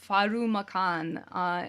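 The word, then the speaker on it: ファルマコン: The droid in this episode is named Pharmacon, which is pronounced Farumakan in Japanese.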